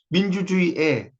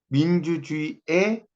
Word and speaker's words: 민주주의의: 그 다음에 그 105쪽에 둘째 줄에 단어의 첫 음절 이외의 의는 이로 발음하는 것도 허용한다란 말 나오잖아요.